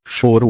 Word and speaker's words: choro: para quem não sabe xoro pronuncia em português ou choro ou lamento também popularmente